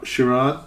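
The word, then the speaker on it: Ciaran: It's spelled C I A R A N. That's the first name. Oh, it's not Irish. Chiron or Chiron? Sir. Chiron.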